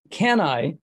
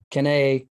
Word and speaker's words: Cannae: so we're going to talk about can i and that's how um we're going to pronounce it for this uh um because your latin is probably much better than i so i will take you uh at your word with that can i is the pronunciation so we're going to use that um because i've heard cane can i can we so yeah all